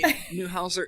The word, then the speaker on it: Neuhauser: So Heidi Neuhauser, is it Neuhauser? Is that the correct way you want to pronounce it?